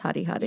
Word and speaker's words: Hari: So as in my whole childhood, I called my teddy bear Harry Harry. Yeah. Like, that was its name. Yeah. And then later on found out that it's obviously pronounced Hari Hari.